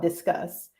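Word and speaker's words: Disqus: is I signed up for a tool called discuss and that's spelled d-i-s-q-u-s and what disgust does is a little bit more of a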